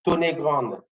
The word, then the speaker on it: Tonnegrande: Patrick, can you pronounce for me the city mayor of Montserrat? Okay. Monsignori Tonnegrande.